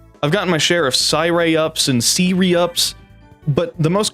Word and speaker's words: Syreyup: But to make it known, if you want to say my name technically correctly, it's Syreyup. Syreyup. If you use iOS and activate Siri, you said it right.